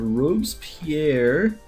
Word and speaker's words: Robespierre: So for our male parasaur, our new Fossils and Archaeology male parasaur, this one is going to be called Robespierre, which I don't know if I'm saying that right.